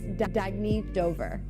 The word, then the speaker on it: Dagny Dover: Oh, it's pronounced Dagny Dover.